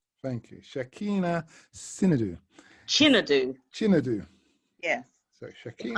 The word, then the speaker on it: Shakina Chinedu: So let me help you with the pronunciation, which is very easy. It is Shakina Chinedu. Thank you. Shakina Chinedu.